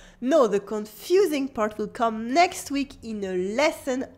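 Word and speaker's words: quand: ko ko means when in french there's a silent d at the end and the u is silent as well co for example jo dorme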